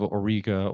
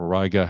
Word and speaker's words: Auriga: Actually, anywhere in the center of Auriga or Auriga, however you want to pronounce it, this is one of